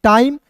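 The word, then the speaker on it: time: टी आई एम ई को पढ़ेंगे टाइम ए का क और पी का प ये सभी को पता है।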